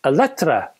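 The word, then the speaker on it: Eletre: similarly high-end all-electric lotus electra hyper suv i think you pronounce it electra the lotus electro is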